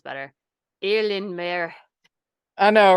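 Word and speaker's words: Eilean Mòr: It is Eileen Moore.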